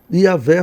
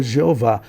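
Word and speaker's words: Yahweh: Yahé fazendo a pronúncia correta aqui que não seria Jeová.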